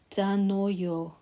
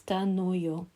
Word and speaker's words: Danoyo: So the next angel is pronounced Danoyo. Looks like Daniel, but it's Danoyo.